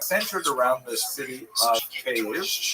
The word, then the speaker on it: Kyiv: That's the Ukrainian pronunciation, by the way. That's favored today because, of course, Ukrainian is the dominant language in the country, but it used to be called in English Kiev, which is closer to Russian pronunciation, because Russia dominated much